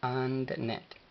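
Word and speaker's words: አንድነት: A, N, la N no lleva pronunciación en el vocal, La D de doctor tampoco. Entonces, AND. And. Y luego NE. Y finaliza con una T, la cual no lleva pronunciación en el vocal. Entonces es AndNet.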